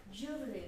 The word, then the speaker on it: jubilee: Yeah, or how to pronounce that jubilee or jubilee.